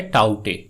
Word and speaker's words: Tauktae: আসলে এটি একটি মায়ানমারের দেওয়া নাম, যেখানে কে উচ্চারণ করা হয় না, অর্থাৎ এটার উচ্চারণ দাঁড়ায় টাউটে।